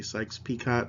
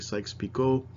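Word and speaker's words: Sykes-Picot: of French name so it's not pronounced peacock a lot of people say Sykes peacock but it's actually Sykes Pico and it just kind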